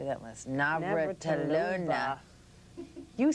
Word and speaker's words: Navratilova: magazine, up there with Martina, say that last, Navratilova. You said it wrong. Navratilova.